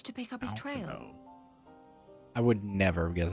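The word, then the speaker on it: Alphinaud: Alphino. I would never have guessed that's how you pronounce it.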